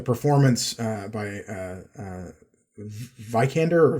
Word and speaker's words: Vikander: yeah like the performance uh by uh uh vikander or vickened or how is your last name pronounced uh i think it's a vikander she's